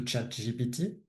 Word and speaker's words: ChatGPT: because for my audience, AI it's equal to ChatGPT, and it is to be pronounced ChatGPT in France because otherwise you look like a fool, and I've made that mistake.